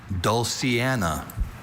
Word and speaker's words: dulciana: Your word is dulciana.